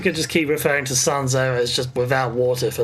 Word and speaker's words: Sanzeau: I think it's Sanzeau, which is pretty much just a French for without water.